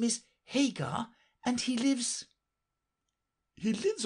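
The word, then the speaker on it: Haigha: happy his name is Hagar he pronounced it to rhyme with mayor I love my love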